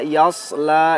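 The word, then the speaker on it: يَصْلَى: Wa yasla, yasla, ingat sod bukan sin, bukan shin, tetapi sod.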